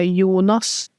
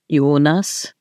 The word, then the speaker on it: Jonas: Uh Yunas Yunas like Jonas Gar.